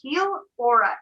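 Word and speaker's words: Healaura: just search on youtube hulora academy and spell that out for us for the listeners so it's h-e-a-l so heel aura a-u-r-a all one word gilora academy a-c-a-d-e-n-y wonderful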